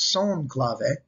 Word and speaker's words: son clave: though it looks like san clave is actually pronounced son clave and the second rumba clave these can then